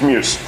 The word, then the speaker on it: MJUS: it's in jus and you try and pronunciate that and I don't know if it takes old mate it's Muse so what's so exciting